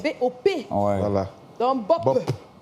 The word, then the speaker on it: Bop: Parce que Bob. c'est pas B-O-B, c'est B-O-P.